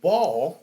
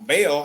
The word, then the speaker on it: Baal: they were like well there's a guy in a Bible named ball right or Bell however you want to say yeah yeah ball there's different ways in which people pronounce it bail so they was like